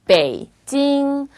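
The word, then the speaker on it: 北京: 발음해볼게요. 베이징, 베이징이 아니라 베이징. 중국의 수도 베이징, 북경을 말하는 거예요.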